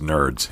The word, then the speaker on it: NRDS: in the profession uh it's nrds right correct which is pronounced nerds in in the room